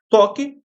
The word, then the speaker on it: toque: O T é pronunciado, o O é pronunciado, o Q é pronunciado, mas o U não é.